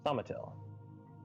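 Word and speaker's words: Thaumatil: you spell that name thumbatill like vomiturji but with till in the end so t-h-a-u-m-a-t-i-l it's in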